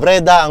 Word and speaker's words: Breda: paano to br breda breda po breda ang bigkas diyan breda coffee so ito